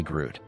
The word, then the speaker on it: Groot: The G in my last name is silent. My friends call me Groot.